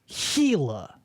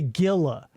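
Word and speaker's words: Gila: anywhere in the southwest G i l a heila heila it's an Indian word I believe maybe heila monster like the heila river g l a don't say Gilla don't say Gilla you dumb do a little research it's heila g a heila even I knew that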